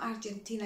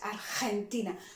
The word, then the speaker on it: Argentina: So it's not Argentina, it's Argentina. So there you have a GE. Again, we're gonna try to pronounce that as aspired as you can.